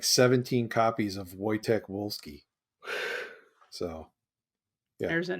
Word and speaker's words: Wolski: 17 copies of Wojtek Wolski. So yeah, There's a name for you. if that tells you anything. And I think it'd be Wojtek because it's the W's are pronounced like a V.